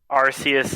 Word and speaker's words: Arceus: Arceus is The correct pronunciation. yeah. I will accept that I was very wrong when I originally pronounced Giratina and Dialga, but Arceus will always be correct.